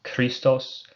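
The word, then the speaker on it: Χριστός: A Greek word that starts with a key is Christos for Christ. That's why Christ is spelled Chrisist, because that first letter is a key. Just definitely don't pronounce it like an English CH in other circumstances where it makes a ch sound. It's never ch, it's k.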